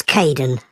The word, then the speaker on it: Kaeden: Hi, Aiden. It's Caden.